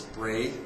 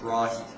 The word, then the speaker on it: Brahe: it lots of different ways i usually actually pronounce it as bray or something like that but a few years ago i was actually told that it should be pronounced brahi i don't know it sounds kind of weird